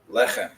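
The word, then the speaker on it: לחם: Lechem. Not lechem, lechem. It means bread. So you put in the accent in the second one. In this case, you're putting the accent on the first syllable one.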